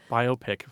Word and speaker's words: biopic: too I mean uh I have a friend who mispronounces biopic all the time she biopic as biopic because it looks like myopic or it sounds like biopsy yeah yeah there we go biopic so what I'm betting